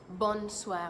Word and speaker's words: bonsoir: just like the bonne journée there is also bonsoir me bonsoir is used when you're trying to